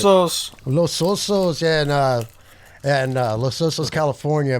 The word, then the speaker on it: Los Osos: Is that how you pronounce that? Los Osos? That Los sounds Osos. Los Osos, yeah, and Los Osos, California, by Jacoby Kingston, Eric Lindmark, and Joey Helslet.